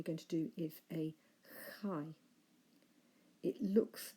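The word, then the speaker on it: χ: It transliterates into English as CH, but whereas in English we pronounce it a ch sound, in Greek we should pronounce it more of a ch, rather like the CH in the word loch, for example. So not a ch, but a ch.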